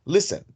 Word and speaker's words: listen: Entonces duplicamos la segunda con doble consonante, cosa que no sucede en listen, porque el acento va en la primera sílaba, listen.